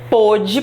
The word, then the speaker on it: pôde: Verbo poder, existe até uma diferença agora na pronúncia, né? Do pode presente e do pôde passado.